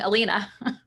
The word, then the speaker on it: Alina: i apologize in advance if i say your name wrong elena you nailed it congrats um i got an